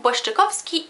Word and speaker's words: Błaszczykowski: Jakub Błaszczykowski y Łukasz Piszczek. Jakub Błaszczykowski. Jakub Błaszczy. Błaszczykowski.